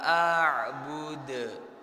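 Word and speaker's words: أعبد: Wala antum abiduna ma a'bud. Yuk bareng-bareng. Nah, itu juga ada yang namanya qalqalah ya. Jadi lebih dijelaskan lagi. Wala antum abiduna ma a'bud. Nah, a'bud. Nah, terakhirnya huruf dalnya lebih dijelaskan.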